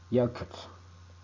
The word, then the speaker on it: jökull: But when two L are overlapped, it has a unique pronunciation, like the tongue ringing in the back of the mouth. So, for example, Jökull, which means glacier.